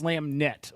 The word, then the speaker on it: SlamNet: domain guys so make sure you go to slamet Chris it's slamet okay XYZ claim I may have said it